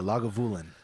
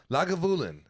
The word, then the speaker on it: Lagavulin: 16 year aged uh james can would you pronounce it for me that's a log of woolen lagavulin i'm excited to try this one tonight yeah